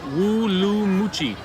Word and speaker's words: Urumqi: It has a W at the beginning, a woo Yeah. sound at the beginning.